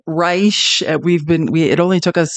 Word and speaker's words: Reich: If you're just meeting Robert Reich, and again, it's spelled like Reich, like Third Reich, which is icky, but he pronounces it Reich.